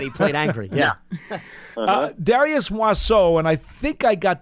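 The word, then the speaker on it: Muasau: Yep, Darius Moisseau is how you pronounce okay.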